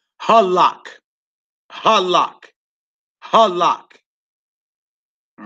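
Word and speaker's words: הלך: The word for walked or went, and it's halak.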